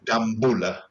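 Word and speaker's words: Dambulla: And by the way, it's Dambula. I knew you were going to correct me on the pronunciation. Didn't take too long, did it? So, but Danula.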